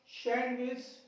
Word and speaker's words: सैंडविच: Next one इज, इसमें देखिए star लगा के कुछ शब्द लिखे मैंने, यहां पे डी साइलेंट होगा। हैंकरचीफ, हैंडसम, सैंडविच, वेडनेसडे, ये शब्द आपको भी क्या करना है, साइलेंट करना है।